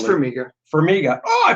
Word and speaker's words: Farmiga: It's Farmiga. Farmiga. Oh, I pronounced it right.